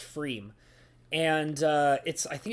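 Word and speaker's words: Pfriem: The P is silent, so it's pronounced Freem.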